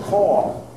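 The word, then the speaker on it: caul: this as a call they call this a call like when you call somebody by not it's not spelled like that it's spelled um c a u l should have done the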